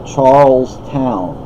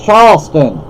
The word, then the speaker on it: Charleston: expect but it's like Charleston up here they say Charles Town well that's not how you say it you see Charles spelled the same way just pronounced differently Charleston Charleston up Charles